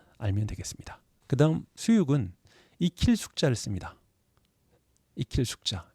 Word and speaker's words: 수육: 것 알면 되겠습니다 그다음 수육은 이킬 숙자를 씁니다 이힐 숙자 요게 요기입니다 그래서 원래는 발음이 숙육 이렇게 되는 겁니다 고기를 익혀서 먹는 것